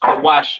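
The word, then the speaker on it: כוש: Cush, pronounced Kawash in the Hebrew, all right?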